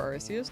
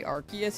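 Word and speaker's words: Arceus: You say either for Arus. No, that's fair. I kind of I kind of swap between the two as well. Usually I say Arus, but at times I say Archus and then it flows off the tongue after that.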